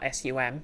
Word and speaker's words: sum: a first person adjective, is spelled S-U-M, like sum, but the U in it's pronounced oo.